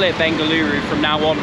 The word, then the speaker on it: Bengaluru: I should call it Bengaluru from now on really it is an extra syllable so the difference from